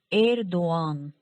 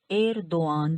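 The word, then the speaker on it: Erdoğan: उनका जो सोयाद यानी उनका जो सरनेम है एरदोआन, एरदोआन, जिसे बहुत से लोग गलत प्रोनाउंस करते हैं क्योंकि युमुशग्गे का इन्फ्लुएंस है और वो समझ नहीं पाते।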